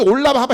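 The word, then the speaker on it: עולם הבא: 원래 의미는 뭐라 그랬어요 올람 하바 이게 원래 정확한 그 발음이 올랍 하바 히브리어로 올랍 하바 그래요 어 그거는 뭐냐면은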